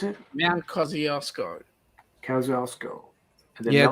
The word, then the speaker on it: Kosciuszko: Mount Kosciuszko.